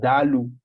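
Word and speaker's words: daalụ: to express gratitude and from ebu if i can try is pronounced dalu so i thank you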